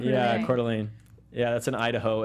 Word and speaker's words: Coeur d'Alene: So, and you have to pronounce this. I know it's Idaho, but I'm like, Coeur d'Alene. I don't know. Yeah. Coeur d'Alene. Yeah, Coeur d'Alene.